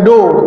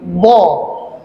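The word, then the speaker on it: ض: langit-langit ya d ya jadi d bukan do tapi dho Allah magdubi magdubi d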